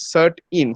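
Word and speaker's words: CERT-In: indian computer response emergency response team but it's pronounced as cert in c-e-r-t-i-n uh if you go to their website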